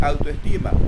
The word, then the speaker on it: autoestima: Aquí usted lee autoestima, ¿cuál será el acento? Autoestima tiene acento en la penúltima, ya es grave.